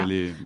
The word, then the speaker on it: galet: que dans la Drôme, on ne prononce pas le ET comme un galet. Enfin, je pense que là, tout le monde dit galet ou pas? Moi, Je j'ai sais pas. galé.